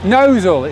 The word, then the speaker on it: Gnossal: Well, we've just left Gnossal, Gnossal it's pronounced, isn't it?